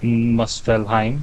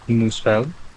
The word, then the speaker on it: Muspelheim: the N Realms uh it's not melheim it is musel and the only fire